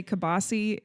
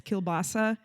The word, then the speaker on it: kielbasa: Kind of like how we say kibasi and it's kielbasa.